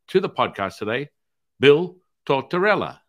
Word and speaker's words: Tortortella: So I would like to welcome to the podcast today, Bill Tortortella.